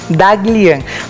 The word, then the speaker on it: Daghlian: Leon como é que se pronuncia teu sobrenome, doutor? Daglian. Daglian.